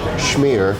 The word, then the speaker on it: schmear: I actually believe the correct pronunciation is schmear of cream cheese.